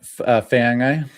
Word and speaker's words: Feagai: Is that How do you How do you pronounce Faik that Faik um Uh Matt Feagai.